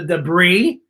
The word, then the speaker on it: debris: c-e-e-c-e-e swam through the debris it sounds like it would just spell with no s but there's a secret silence at the end of that word and arkansas has a